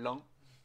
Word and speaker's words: Ain: premier département qui s'appelle l'Ain. Non, pas de bol, homonyme, parce que ça s'écrit pas UN mais AIN.